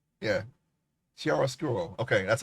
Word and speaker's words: chiaroscuro: Chiaroscuro. Yeah. Chiaroscuro. Okay, that's how you pronounce it.